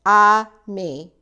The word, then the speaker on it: ami: say friend in French the word is Ami my mom says you say it like this I me I love French everything